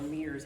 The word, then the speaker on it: MERS: Then several years later, then there became another coronavirus that we were introduced to, and it was MERS or MERS, however you would like to pronounce it. I've heard both.